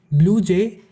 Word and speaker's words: BlueJ: BlueJ is named after a bird named Blue Jay. The name is Jay, but it is usually pronounced J. So from there it is derived Blue Jay.